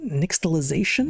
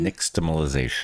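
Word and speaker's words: nixtamalization: Uh, and tortillas are traditionally made with um corn, salt, and lime in a process called nixalization. Niximalization. Nix I forgot I dropped I dropped a syllable.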